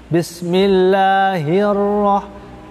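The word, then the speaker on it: بسم الله الرحمن الرحيم: Makanya, ya, walaupun ra-nya double juga tidak boleh banyak getaran. Misalkan contohnya yang sering kita lihat, Bismillahirrahmanirrahim, ya, ya, nggak boleh dibaca kurang tepat kalau dibacanya ra-nya terlalu banyak. Misalkan Bismillahirrahmanirrahim, walaupun sayuqnya ra-nya itu bertasdid dan ra-nya itu double, ya, ra-nya cukup sedikit getaran, satu kali getaran.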